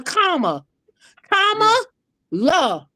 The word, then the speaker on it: Kamala: You know when you put a comma in your sentence, a comma, la, comma, la, comma.